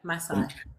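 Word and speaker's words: Maasai: So, in the tribe specifically, is it pronounced Masai? Yeah, Masai.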